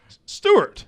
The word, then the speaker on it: Stewart: tony stewart they just i don't like the way you say stewart at all not even a little bit it's better than notre dame stork tony stewart two syllables here stewart tony stewart oh my